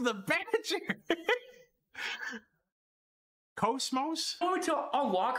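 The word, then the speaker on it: KOS-MOS: and by the way people say her name wrong they always say like like Cosmos or Cosmos whatever it's Cosmos Cosmos can you get name right her name is Cosmos not Cosmos I swear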